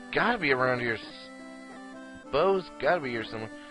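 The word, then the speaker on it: Bow: Bao's gotta be around here. Bo's gotta be here somewhere. I wanna say Bao, but I know it's Bo.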